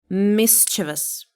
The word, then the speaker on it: mischievous: How do you pronounce it? Mischievous? No, it is mischievous. Mischievous.